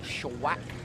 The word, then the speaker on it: Schwack: at right now is Bill schwack I've got that right shawak is how it's pronounced Chevrolet Corvette beautiful Chevrolet